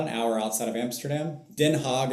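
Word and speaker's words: Den Haag: Denhog is how they say it.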